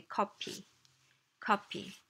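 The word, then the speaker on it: 커피: chick means food food copy copy means coffee we can't pronounce f I mean we could if we wanted to but it's just not a sound that exists in Korean so we say copy copy P is the closest approximation of right let's talk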